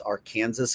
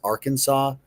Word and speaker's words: Arkansas: Um you know, the number one mispronounced state in the country was our Kansas according to Preply. Uh was Arkansas.